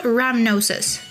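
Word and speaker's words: rhamnosus: In the lactobacillus species, we have L ramnosis, which is great for diarrhea and immune support. Ramnosis is spelled A R H A M N O S U S.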